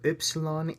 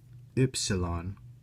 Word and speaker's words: upsilon: The pronunciations for upsilon and chi are, strictly speaking, not used in the English language. Upsilon is like this which can be approximated like rude, and chi, which could be approximated with a hard K.